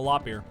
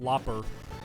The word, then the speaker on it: Loppear: No, I'm a loppear. Or as some people for some reason pronounce it, lopper.